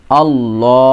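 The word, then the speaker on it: الله: জবার ল আল্লাহ আল্লাহ একটা কথা মনে রাখবেন যে যখন তাজদিদ থাকবে লামের উপরে এবং তার আগে যদি জাবারের সঙ্গে ইদগাম হয় বা পেশের সঙ্গে ইদগাম হয় তাহলে তাহলে লাম পুর হবে অর্থাৎ ল পড়তে হবে আর যদি জের সঙ্গে ইদগাম হয় তাহলে বারিক পড়তে হবে অর্থাৎ লা এরকম পড়তে হবে তো এখানে যেহেতু জবার আছে তাই এখানে আমরা পুর পড়বো আলিফ লাম জবার আল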